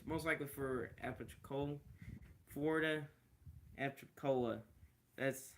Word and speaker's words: Apalachicola: It's most likely for Apalachicola, Florida, Apalachicola. That's how you pronounce it.